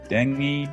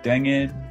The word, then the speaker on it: dengue: do you pronounce that turns out that one can be pronounced as dengue dengue dengue sometimes dengue so you might think